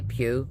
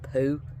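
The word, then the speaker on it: Pugh: Sarah, I want to say Pew, because P-U-G-H, right? But I'm not Welsh and can't say it correctly. Sarah Pooh.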